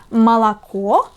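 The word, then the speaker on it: молоко: for example the word malakuo has three letters o but only one of them the last letter O is read as o but the first two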